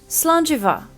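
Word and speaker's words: slàinte mhath: like the English V so this would be pronounced slant Eva it means good health and is said in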